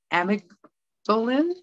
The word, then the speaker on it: amygdalin: as the bark and the leaves they contain amicolin that's spelled a-m-y-g-d-a-l-i-n amygdalin now this is a compound that produces